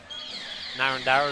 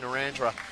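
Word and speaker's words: Narrandera: new south wales coach you would know that it's pronounced narandra so i don't know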